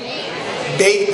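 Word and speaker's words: Bage: Hard G, soft G, beige? Beige, like badge, beige? Like gauge, but with a B.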